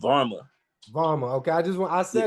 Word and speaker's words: Varmah: it's Varma.